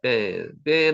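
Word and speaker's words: בן: 뺀 한번 해보세요. 뺀으로 발음이 됩니다. 격한 발음이죠.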